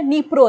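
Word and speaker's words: Dnipro: एक नदी बहती है उस नदी का नाम है निप्रो रिवर क्या नाम है डी यहां पे साइलेंट है निप्रो रिवर यहां पर बहती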